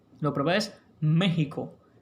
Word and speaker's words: México: Lo adecuado es que esa X en estos topónimos mantenga su valor como fonema J. Lo propio es México, Texas y por supuesto